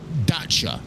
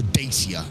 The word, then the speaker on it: Dacia: Yeah, I mean, again, Dacia is how an English person would phonetically pronounce it. But I mean, you've got, you've got to take into account different pronunciations in terms of different countries and things like that, and how they pronounce different letters.